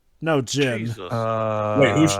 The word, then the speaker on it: Jin: Gene? No, Jin. Wait, who's Gene? No, Jin. He just... That's just how he pronounced his name, that's all.